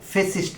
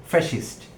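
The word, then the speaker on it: fascist: হয়েছে বাংলাদেশে cultural ফ্যাসিস্ট আমরা সাধারণত কথা যখন কথা বলি ফেসিস্ট বলে থাকি শব্দটিকে। তো আমরা বাংলা উচ্চারণে সেটি ঠিক আছে। বাট ইংরেজিতে শব্দটি উচ্চারণ করতে গেলে শব্দটির উচ্চারণ হয়ে যায় ফ্যাসিস্ট।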